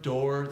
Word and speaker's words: door: orange corn orange corn door same exact vowel door spelt strange when two O's plus ours not typically how we get that or vowel door is different door is also rhyming with floor door also rhymes with floor that's better grammar so